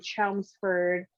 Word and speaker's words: Chelmsford: But her husband pastors a church in Chelmsford, Massachusetts.